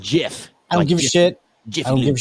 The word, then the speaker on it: GIF: and a lot of people say it's a gif i call it a gif i don't care i give it's pronounced jiff i don't give a i